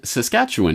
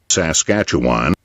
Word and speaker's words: Saskatchewan: he was born in Saskatchewan in 1947 or as the Americans insist on pronouncing it josh gacha whan he grew up in